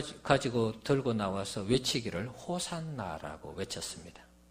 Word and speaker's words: 호산나: 하나가되는 것입니다 야시 않아 이것을 헬라 으로 발음 하게 되면 호산나 로 이렇게 발음이 된다는 것입니다 그래서 예수님을 향해서 종로는